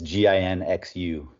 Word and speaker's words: Ginxu: do you spell it it's it's gin xu okay they spell it ginsu so basically the front